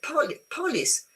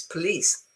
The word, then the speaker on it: police: in a different way you say pol police and it's wrong it's police okay um and then you have about no go banana.